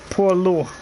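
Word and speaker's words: poilu: It's pronounced Polo.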